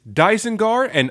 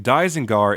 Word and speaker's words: Dygenguar: One thing to also note, I'm pronouncing Dygenguar in its original Japanese pronunciation. On the box it's pronounced Dygenguar, but to stick with the original Japanese pronunciation, I'll be calling him Dygenguar for this review.